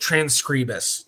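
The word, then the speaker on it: Transkribus: Transcribus or transcribus. Uh, I actually asked them at Rootste last year the proper way to say it, and what they told me was either way. So, whatever you prefer. Transcribus is a website that is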